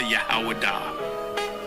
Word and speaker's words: Judah: When I say Judah, Yahawadah. That is the ancient pronunciation of the word.